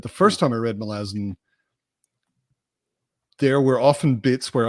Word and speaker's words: Malazan: were visually reading a book, except Malazan is pronounced Malazan.